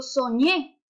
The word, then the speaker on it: soñé: Yo digo soñé. ¿Dónde hay mayor fuerza de pronunciación? En la ñe.